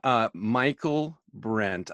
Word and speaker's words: Michaelbrent: Michaelbrent.